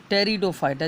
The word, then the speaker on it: टेरिडोफाइटा: पर ए जाता है टेरिडोफाइटा जिसको पी से लिखने हैं पिसाइलेंट राहत है अब देखिए थैलोफाइटा में